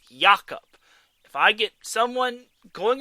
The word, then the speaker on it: Jacob: last time it is pronounced it is not pronounced jacob silverberg it's yakup if i get someone going up to me